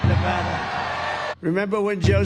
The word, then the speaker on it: Nevada: we love it and you always have to say it correctly Nevada you got to call it Nevada remember when Joe said